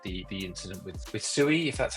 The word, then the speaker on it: Sui: I also wasn't sure how to pronounce it just before I like made sure it was like sui instead of SIU, just so I I I just referred to it like that just to avoid mispronouncing it.